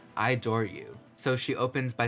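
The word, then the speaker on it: Idoru: final track track number 10 I believe is pronounced ID or u so she opens by saying you are the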